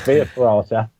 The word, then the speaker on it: Via Ferrata: So it's a tricky one, and we thought it was a good name, but it's a nightmare to spell and pronounce. So it's Via Ferrata.